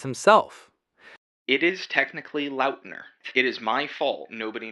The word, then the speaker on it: Lautner: Let's break it down into four quick syllables. Tay, lur, loud, ner.